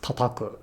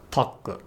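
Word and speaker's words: たたく: other words like this, tataku, which is never pronounced as taku, tataku, which is never pronounced as taku.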